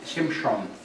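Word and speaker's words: שמשון: The real Hebrew pronunciation is Shimshon.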